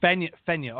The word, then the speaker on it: Fenyo: And Fenyo. Is that right? How do you say your last name? You said it right the first time, Fenyo. So the E is silent. What? So Fenyo.